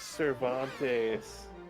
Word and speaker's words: Cervantes: The butler's name is Cervantes. Is that significant? His first syllable is serve.